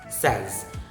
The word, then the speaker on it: says: Next is says, says. If there's no letter S, you say say. That's correct. But if there's letter S,